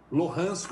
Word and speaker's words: Luhansk: leste onde fica Donetsk, Luhansk ou Lugansk, né? Você tem ali uma questão de pronúncias, que são essas áreas que desde 2014 se autoproclamaram repúblicas independentes da Ucrânia, né?